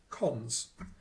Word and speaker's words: cons: building block is a little operator which is pronounced cons and it's the colon operator and it's the